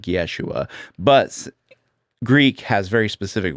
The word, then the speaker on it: Yeshua: So Jesus would have been called Yeshua. But Greek has very specific rules for like in his actual culture Jesus would have been called something like Yeshua.